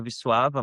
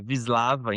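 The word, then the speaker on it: Wisława: A pronúncia em polonês é vissuava, mas no Brasil também muitas vezes a gente fala vislava.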